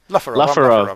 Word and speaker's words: Lufarov: Lufarov. That's how it's pronounced. It sounds a bit Russian, but it's not.